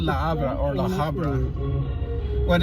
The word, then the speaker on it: La Habra: Yeah, so in Spanish you don't pronounce the letter H.